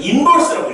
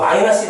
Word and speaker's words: 인버스: 이건 마이너스 1이라고 읽으면 안 돼. 어디서 촌놈 소리 들어. F의 G 도트 F 인버스라고 읽어요. 인버스. 우리말로는 역함수. 선생님 이거 마이너스 1 아니라고.